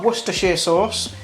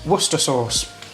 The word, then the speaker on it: Worcestershire sauce: american friends out there it's not worcestershire sauce it's pronounced worcester sauce don't ask me why